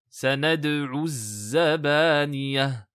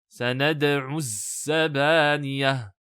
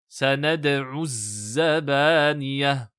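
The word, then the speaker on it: سَنَدْعُ الزَّبَانِيَةَ: Il existe une erreur assez classique sur la prononciation de la lettre zay avec une shadda, qui est des fois mélangée avec la lettre sin. Par exemple, sanad'u zabaniyah.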